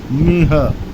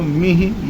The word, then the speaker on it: मिह: ते निर्जरत्व ते निर्जरत्व मिह यहां लोग गड़बड़ करते हैं। मिह को उच्चारण मीह बोलते हैं। तो मिह या मिहे यह नहीं है यह खाली ह है तो खाली उच्चारण बोलेंगे मिह निर्जरत्व मिह याती कलेवरेण